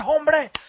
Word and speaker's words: hombre: Like, you spell it with an H, but the H is silent.